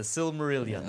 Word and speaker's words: Silmarillion: and that what is that that's how you pronounce that yeah that's the the silmarillion okay i never i just like just call